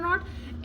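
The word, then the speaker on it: knee: लेट me tell you when के is there और उसके बाद के के बाद एन आता है और एन के बाद कोई भी वाउल साउंड आता है कोई भी वाउल लेटर आता है तब हम के को साइलेंट करते हैं जैसे नाइफ नॉलेज नी इसमें क्या है के आ रहा है उसके बाद एन आ रहा है एंड जस्ट उसके बाद क्या आ रहा है एक वाउल साउंड आ रहा है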